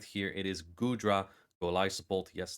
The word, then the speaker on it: Golisopod: It is Gudra, Golisopod, yes, that is the official pronunciation, and Lantern.